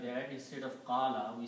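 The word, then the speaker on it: قال: And if we put one fatha on each of them, the middle one will be pronounced as alif. Qala. Qala means he said.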